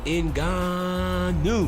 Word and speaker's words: Ngannou: working the Fox Deskin we were trying to figure out how to say his name and a new inga know and then we just settled on in God new when we figured it was his name and we started saying with that emphasis because he